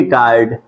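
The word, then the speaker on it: guard: Wavell आ सकते हैं तो उसमें आप ध्यान देंगे कि यू हमारा क्या होगा साइलेंट होगा बिल्कुल सही ठीक यू क्या होगा हमारा साइलेंट होगा तो जैसे जी यू ए आर डी ठीक है जी यू ए आर डी तो इसको क्या पढ़ेंगे गार्ड ठीक गार्ड क्या होते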